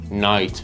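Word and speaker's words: knight: برای حرف زی هست حرف ک قبل از حرف ان سایلنت میشه و تلفظ نمیشه مثل نی نایت نو حرف اچ حرفیه که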